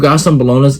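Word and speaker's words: Gastón Bolaños: Gaston Bolonas, that's how you say his name.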